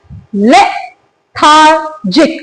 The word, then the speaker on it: lethargic: क्या वर्ड है, लेथार्जिक. मेरे साथ प्रोनाउंस कीजिए इस वर्ड को, लेथार्जिक. इसके अंदर 3 सिलेबल्स हैं, राइट.